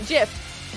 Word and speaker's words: GIF: g d gift g before i is a soft g jiff we didn't get enough